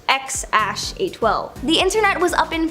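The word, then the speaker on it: X Æ A-12: Okay, so we all know their first kid's name is X something, or apparently it's pronounced X-A12.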